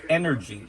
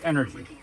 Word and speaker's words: E-NRG: this fuel it's called energy e dot n r g letters all letters pronounced energy so i was told